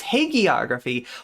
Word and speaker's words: hagiography: It's a hard G. It's hagiography.